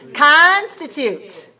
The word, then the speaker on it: constitute: what do you see constitute all right where is this where's a stress on this word you have constituted three syllables and it's stress on the first so we say ah